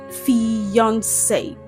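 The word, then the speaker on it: fiancé: Did you know that these two words are actually pronounced the same way? Yes. These words are homophones. They have the same pronunciation. However, they have different spellings and different meaning. One is used for male while the other is used for female. So, we have fiance. They're pronounced as fiance. This word is pronounced as fiance. And this word is also pronounced as fiance.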